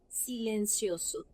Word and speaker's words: silencioso: silencioso مش زو، لا سو.